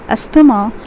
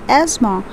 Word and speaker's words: asthma: word and it's asthma please don't pronounce it as asthema but it's asthma when you have difficulty